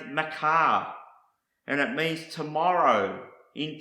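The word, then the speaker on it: מחר: Hebrew word morph another Hebrew word is pronoun pronounced Macar and it means tomorrow in time to come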